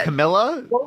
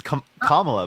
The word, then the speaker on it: Kamala: has no policies listed Camila shut up wait wait is that respectful for you to say her name that way it's Kamala by the way oh commala yeah you